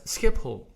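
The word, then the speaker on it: Schiphol: next one is Amsterdam international airport and that's skip hole skip ho all right SE little bit of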